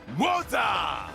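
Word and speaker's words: Moze: The weirdo, Moza. Moza! Apologies. Following close I'm pronouncing it behind him Rose, is like the Rose.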